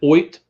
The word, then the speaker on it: Ott: Especially a guy named whose first name is Oit, but it's spelled OTT.